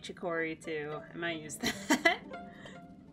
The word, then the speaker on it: Chicory: new wielder chicory i've been saying chikori this whole time but the proper pronunciation is chicory also hello the vista